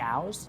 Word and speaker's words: Au's: If you live in LA, you can go to a place called Jimmy Au's. Jimmy Au's? Jimmy Au's, yep. How do you spell that?